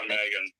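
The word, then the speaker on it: M3GAN: Yeah, Megan. It's just pronounced like that.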